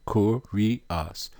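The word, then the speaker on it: κύριος: of speech masculine noun pronunciation cor ri us root word etymology from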